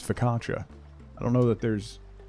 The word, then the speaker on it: focaccia: in your house is how you say focaccia it's focatra I don't know that